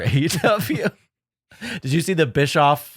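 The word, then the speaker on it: Bischoff: ever heard for aw did you see the Bish off like in an airport uh Ariel hanani interview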